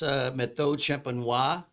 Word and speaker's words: Méthode Champenoise: If it says that it's Méthode Champenoise, that's how you pronounce it, on the label, you know that follows the same process as all French champagne wines.